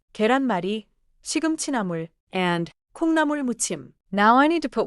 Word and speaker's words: 콩나물무침: 계란마리, 시금치나물 and 콩나물 묻침.